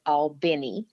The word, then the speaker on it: Albany: Albany Georgia and the folks in Albany actually pronounce it all Benny but I was born in Georgia raised for